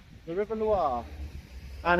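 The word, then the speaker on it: Loire: The Lir. The river Lir.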